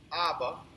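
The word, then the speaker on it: אבא: Hebrew reads this way you can you can pronounce it ABA you can Define it strength of the house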